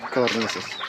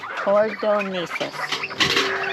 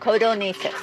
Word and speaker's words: codornices: Codornices. Cornices. Brother? Cordonesis. No. C-O-D? Oh, codonesis. Yes.